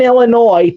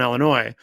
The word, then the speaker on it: Illinois: Now she lives in Kenosha, Wisconsin, but she did live in Illinois, and she would always it would always bother her when she would hear people say Illinois because the S is silent.